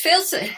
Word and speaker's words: faecalis: Now, Enterococcus faecalis, I can never pronounce the second word.